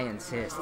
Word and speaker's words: NScyte: Even though his name is NScyte. But I insist that he pronounces it Insist.